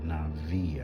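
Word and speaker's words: נביא: from the Hebrew word nabii this is what nabii means or Navi actually I guess is how it's pronounced the B makes a v sound like victory is mine um that type of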